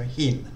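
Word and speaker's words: หิน: So the basic word, first consonant is whole heap, H, then sara it, which makes like an I sound, and then nonu N, so hin. So hin, you can continue voicing it. So it's a live syllable. And whole heap, initial consonant, high class. So once again, it's got a rising tone. Hin, starts off normally, then goes up.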